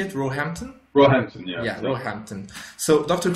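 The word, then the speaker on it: Roehampton: University of how do you say it rampton rampton yeah yeah rampton so Dr Cooper is one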